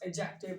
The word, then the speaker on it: adjective: जैसा कि मैंने पढ़ा, इट्स एडजेक्टिव, डी को आपने प्रोनाउंस नहीं करना, इट्स एडजेक्टिव।